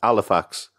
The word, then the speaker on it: Halifax: prance the edge yeah it's not aliphatic Halifax its alle facts and from steps so